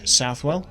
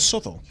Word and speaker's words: Southwell: have happened here so whether you pronounce it southwell or sou you can't argue the